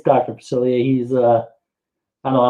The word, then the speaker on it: Facilier: okay we got a couple guesses here dr facilier is that correct steve that is correct did i pronounce it right yes all right actually i